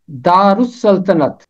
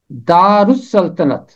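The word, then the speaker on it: دارالسلطنت: इसका तलफ़ुज़ है दारुस्सल्तनत। दारुस्सल्तनत, दा पहला हिस्सा, रे इसका आखिरी हर्फ है, रे के ऊपर पेश और रे मिलेगा जाके सीन के साथ, क्योंकि अलिफ लाम के बाद सीन हरफे शमसी है, सीन के ऊपर तशदीद और रे मिलेगा सीन के साथ, रुस इसका तलफ़ुज़ बनेगा और सल्तनत फिर अलहदा है।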